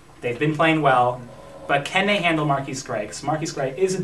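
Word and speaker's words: MarQueis Gray: And maybe if they can force some turnovers, because I'll say it right this time, Marquise Gray, very sophisticated.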